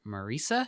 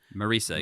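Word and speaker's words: Marisa: Uh, this week's guest on the Muppet Show is model and actor Marica. Is that how she was saying her name? Marissa.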